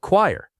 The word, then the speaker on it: choir: This word looks like it should rhyme with fire, but it actually sounds like choir.